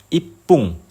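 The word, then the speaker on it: 一分: Misalnya 1 menit itu ipung, jadi bunyinya pung di belakang dan 2 menit itu nifung.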